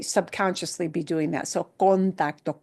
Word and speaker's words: contacto: So contacto, contacto, that o, that first o in contacto, contacto. There is no reduction in Spanish with vowels. Those vowels must be in there all the time, even if it's not the emphasized syllable. So in contacto, the tac gets more punch, yeah, naturally, it gets more stress.